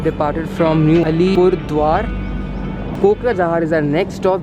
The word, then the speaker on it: कोकराझार: इसका प्रोनाउंसिएशन है कोकराझार।